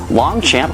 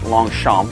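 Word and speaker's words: Longchamp: i'm an uncultured swine it's probably pronounced longsham i believe it is a to go with a parish paris fashion week that is probably pronounced french-wise i'm assuming long chomp but i like the sound of long champ sounds like a really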